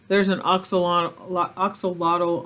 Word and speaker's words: axolotl: And the Aztecs pronounced this word axolotl. Axolotl. They don't call it axolotl. That's the English pronunciation.